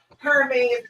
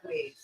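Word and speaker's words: Hermès: Well, you, a lot of them can't even fucking pronounce it because it's Hermes. They be like, I want one of them Hermes Birkin bags. No, baby, it's Hermes.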